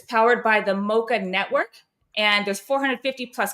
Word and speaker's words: Moca: And I really hope I'm saying Mocha right. I I'm just realized there's no H in that. But anyway, Mocha_network. Yeah, you're saying right. You never know. I can't imagine any other way of pronouncing it. Weird. I don't know. But anyway, phonetically, Mocha uh_network. No H in that. It's not the coffee drink.